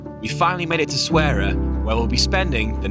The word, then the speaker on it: Essaouira: You should pronounce it as Moroccan. Essaouira.